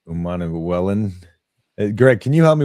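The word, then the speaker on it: Prince Umanmielen: Prince, I can't say his name, Umanawellen. Greg, can you help me with the pronunciation of Prince's name? Umanawellen? Unakamwellen.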